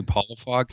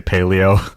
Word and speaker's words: Palafox: Am I pronouncing your last name right? I'm horrible with this. No, no worries. It's actually Palafox. Palafox. That was close. What did I say? Paleo?